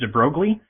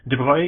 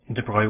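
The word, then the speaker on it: Broglie: I always thought his name was pronounced Deb Brogley, but it's well, he's French, so there's all sorts of weird pronunciations in French. Droy is my best guess at how it would probably be pronounced.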